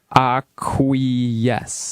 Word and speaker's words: acquiesce: Acquiesce. Yes, that is the correct way to pronounce So it.